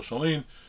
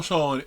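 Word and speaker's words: Schoelen: Jill scholin and I I've always used to call Jill scholen I did here on a podcast I think she pronounced it Jill schen so that's what I'm gonna say now Jill schaen is has been was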